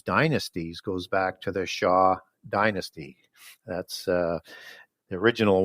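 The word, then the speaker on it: Xia: goes back to the Sha Dynasty that's uh the original one that's x i a as it's spelled pronounced sha and the Western bloodline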